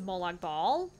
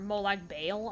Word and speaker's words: Molag Bal: gotten two Mace of Molag ball or Molag Bale I guess is how he's supposed to be how it's supposed to be pronounced but I don't think anyone calls it that not even the game